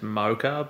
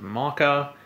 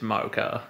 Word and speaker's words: mocha: believe the pronunciation is mocha but it's quite widespread here in australia that people pronounce it maca uh doesn't have a k in it it's mocha that's one of the